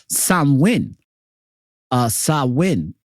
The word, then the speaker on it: Samhain: Sam Hing a guy a Gaelic word pronounced Sam win is usually celebrated from